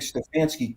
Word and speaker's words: Stefanski: It's a style that Zach introduced, and I think Stefanski couldn't introduce it because he had no quarterback.